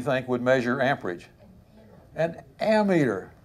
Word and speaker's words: ammeter: meter do you think would measure amperage an ammeter how about that do you pronounce that ammeter amateur yes okay ammeter ammeter not meter meterize kilometers you would pronounce kilometers